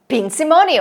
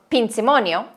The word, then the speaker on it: Pinzimonio: So, Pinzimonio, pronounced Pinzimonio, is an incredibly easy,